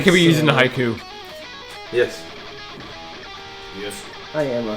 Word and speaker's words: haiku: That can be used in a haiku. Yes. Yes. I am a haiku. No. Haiku is also not said with an L at the end.